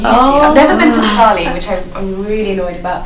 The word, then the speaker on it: Diwali: Because you have Deepavali, is that how you say it? So Diwali. Diwali, that's it.